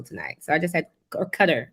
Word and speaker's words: Qatar: I never heard of Qatar till tonight, so I just had Qatar. It's Qatar, not Qatar. Well, they're both pronunciations. We say Qatar here. They say Qatar there, but that's where the Olympics was just there, right?